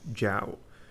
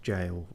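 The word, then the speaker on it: gaol: Hound ever Gap ever jowl okay g-a-o-l that's usually pronounced jail or not jail specifically but yeah something like that yeah okay I didn't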